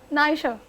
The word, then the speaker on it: Naisha: हाउ डू you pronounce it? नायशा।